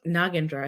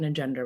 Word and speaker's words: Nagendra: and they also like nagendra is how you pronounce their name but they thought nendra was easier to say because that's how someone